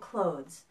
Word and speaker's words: cloth: difference between cloth and clothes first there's a pronunciation difference the word cloth has an a sound cloth it's similar to the words law bought and taught even though the sound is spelled differently it's spelled with an